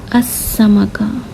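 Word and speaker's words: السمكة: अभी फिर वक्त ये समझिए कि हुरूफ शमसिया में आपको लाम प्रोनाउंस करना नहीं है यानी लाम तारीफ़ को। तो आप किस तरह इसे प्रोनाउंस करोगे? अस्समका, अस्समका। तो आपको डायरेक्ट इस हमज़तुल वस्ल के बाद इस सीन के पास जाना है यानी हुरूफ शमसिया के पास, और उसे शद के साथ प्रोनाउंस करना है।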